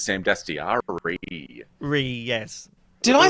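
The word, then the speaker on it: Dastyari: You just said Dastiani. I believe his name is Sam Dastiari.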